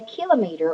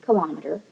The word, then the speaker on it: kilometer: And a kilometer, or sometimes pronounced kilometer, is about how far you can run in 10 minutes.